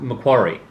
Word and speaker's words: Macquarie: Macquarie. Macquarie. Yeah. What is Macquarie? Well, Macquarie was a governor of Australia, the first governor of Australia, here, or New South Wales. So Macquarie Street's been a famous street, and it's considered